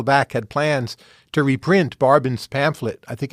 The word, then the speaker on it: Barbon: It was a study of Nicholas Barbin. I think they just pronounced it barbin then since okay the family